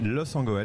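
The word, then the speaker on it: Loos-en-Gohelle: Vous êtes à Los en Goël. Est-ce que je l'ai bien prononcé? Los en Goël, oui, tout à fait. Los en Goël, dans les Hauts-de-France.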